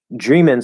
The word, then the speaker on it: dreamin': So dream in is the sort of shorter informal pronunciation for dreaming, the ing form. We in the writing we would drop the G, usually put an apostrophe, and change the pronunciation to I, the second vowel sound in dreamin'.